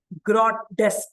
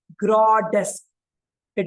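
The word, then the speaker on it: grotesque: The pronunciation will be grodesk. Grodesk. It is written like grodeski.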